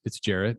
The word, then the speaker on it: Gerrett: It's Gerrett. It's Gerrett. Everybody loves to hear their name and it pronounced properly.